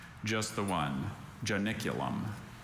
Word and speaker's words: Janiculum: Are there any alternate pronunciations? Just the one. Janiculum.